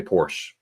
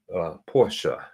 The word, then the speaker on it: Porsche: Without the R. Because I know you don't pronounce the R like we do. So Porsche. Porsche. Not Porsche. Porsche. Right? Yeah. Americans, they say Porsche.